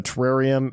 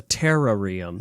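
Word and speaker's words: Terarium: you work with a professor in the the terrarium in the blueberry Academy excuse you it's called It's pronounced the terrarum oh the ter terrarum thank you for making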